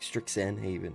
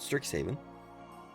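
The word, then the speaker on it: Strixhaven: I I never get that word right. I always say it like stricksen Haven or something like that, but Stricks Haven and uh Lurin Eclipse,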